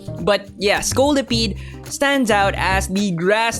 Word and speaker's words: Scolipede: Scolipede, that's how you pronounce that, right? Not a single soul commented on yesterday's video. I said Scoliopede, which is, you know, the thing with your spine, right?